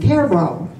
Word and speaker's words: Cairo: Another is similar but pronounced differently, Cairo.